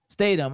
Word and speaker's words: Statham: How do you pronounce his last name? Statham.